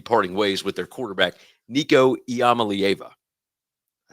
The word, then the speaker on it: Nico Iamaleava: Uh, but you know, I had to jump in about Tennessee parting ways with their quarterback, Nicoyama.